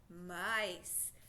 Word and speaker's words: mice: Okay, we have vowel consonant silent E pattern. I says his name. All right, break the code. What'd you get? Mice. The E doesn't talk. It's silent.